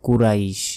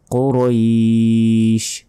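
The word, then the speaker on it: قريش: লাতে এক সেকেন্ড টান হবে আমরা অনেকে বলি কুরাইশ এটা ভুল কারণ অনেকে আমরা এই যে বাংলা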